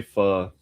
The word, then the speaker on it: pho: That's how you pronounce it. Pho. It's like a weird pause where you say like pho. It's funny how that works. It's because it's one of the 6 tones that stalls it.